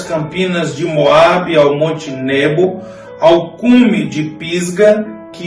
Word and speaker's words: Nebo: Outro monte, agora o Monte Nebo, ou Nebo, como alguns pronunciam, foi o lugar onde Moisés avistou a